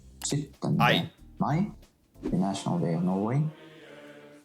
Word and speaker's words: Mai: All 3 are pronounced as I. 17. Mai, the National Day of Norway.